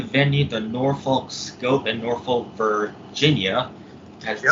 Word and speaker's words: Norfolk: Took place at the venue, the Norfolk Scope in Norfolk, Virginia. That's how you freaking pronounce it.